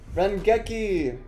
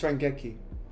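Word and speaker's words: 連撃: Rengeki. Fan. What? Fan no. of hammer. No, fan and no, in Japanese it's Rengeki. It's Rengeki. Fan.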